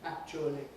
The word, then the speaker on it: actually: Nobody pronounces it 4 syllables these days, right? Many pronounce it 3, quite a lot pronounce it only 2.